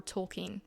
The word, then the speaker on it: Tolkien: Lewis and J.R.R. Tolkien, which I recently learned is the correct pronunciation, I've been calling him Tolkien my whole life, is one of the most significant in history.